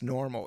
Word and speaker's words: NORML: If you look at the old Cheech and Chong movies, Cheech always had this badass Normal. It's like purple, and it has and it's spelled NORML.